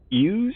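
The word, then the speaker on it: Iuz: created by the demigod hughes i believe is how you pronounce it iu z ooze is and uh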